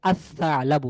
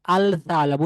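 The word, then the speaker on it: الثعلب: এখানে আল সা আলাবু না, হবে আসা আলাবু। এই লামটি পরবর্তী যে হরফ সা, এই সা এর সাথে মিশে যাবে এবং লামের আলাদা কোনো উচ্চারণ থাকবে না, আওয়াজ থাকবে না।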